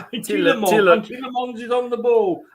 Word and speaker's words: Tielemans: It's not Mons, it's M-A-N-S, it's Tielemans. Tielemans is on the ball.